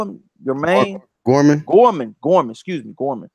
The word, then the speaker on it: Gorman: Kevin Johnson and uh and and Nathan Nathan gourmand what'd you call him your main Gorman Gorman gorm excuse me Gorman Gorman I know